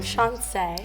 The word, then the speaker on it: Chanse: name is Justin I'm shance Shon that sounds pretty how do you spell it thanks like chance but the second C is an S well I guess we're